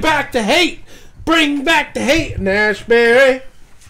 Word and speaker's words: Haight: know I mean I'm thinking the only other Heights that I know is Haight and Ashbury in